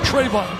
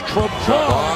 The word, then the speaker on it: Trevon: It's not Trayvon, it's Trevon.